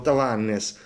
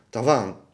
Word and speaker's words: Tavannes: puntiglioso sulle pronunce no tavannes Anch'io l'ho sempre pronunciato tavannes ma secondo me si si si pronuncia tavan Come si Longines si pronuncia longin tavannes tavan senza dire la e la s no tavan M però